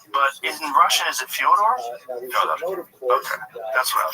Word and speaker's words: Fyodor: he's saying that because Fedor Emelianenko. I'm like, yeah, well, that's kind of the accepted American pronunciation of Fyodor, though. Right. So I wanted to ask you if it was Fyodor.